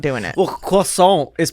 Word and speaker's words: croissant: In America, hey, hello Americans, it's pronounced croissant, not croissant.